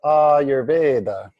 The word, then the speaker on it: Ayurveda: But that's two words, and in Sanskrit, words generally come together. So it becomes Ayurveda, which is a different pronunciation than separating two words.